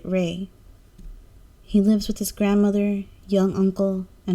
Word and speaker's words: Rai: His name is Rai, but his family pronounces it Ray.